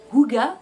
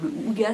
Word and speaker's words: hygge: dont je me sers pour des petits moments huga ont dit en ce moment c'est la grande mode. Donc huga c'est quoi ?